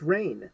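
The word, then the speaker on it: Rahne: mind for literal decades how to pronounce wolfbane's name is it Ronnie is it Raheem is it rain her name Sinclair the the um here we go an issue two it's rain that's how you pronounce your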